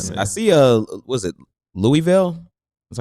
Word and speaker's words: Louisville: I see uh was it Louisville? Is that how you pronounce it? Louisville, yeah.